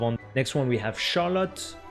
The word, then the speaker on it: Charlotte: next one we have Charlotte in English we'll pronounce it Charlotte but in French we have more uh linear pronunciation Charlotte and yeah this is